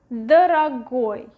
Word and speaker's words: дорогой: And the last one, дорогой, дорогой, дорогой. Again, the stress is going to the last syllable.